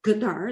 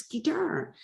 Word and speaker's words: Guitar: said she means guitar what it's not gadar it's guitar you know so when